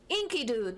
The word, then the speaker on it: Enkidu: Enkidu, that's how you pronounce the green chicken's name.